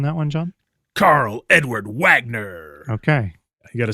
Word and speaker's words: Wagner: Karl Edward Wagner.